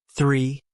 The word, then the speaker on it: three: Three. Remember the T sound.